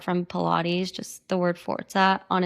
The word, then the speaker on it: Forza: I talked to my grandma who speaks Italian, and I was like, this word, I kept coming back to, it's pronounced Forza.